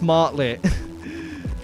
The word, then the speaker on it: Martlet: I know it's Martlet. I just said it wrong the first time.